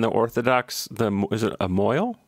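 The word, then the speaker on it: mohel: Moyle. Mochel. But we pronounce it Moyle because it's funnier, because it sounds like a guy from Brooklyn saying Merle.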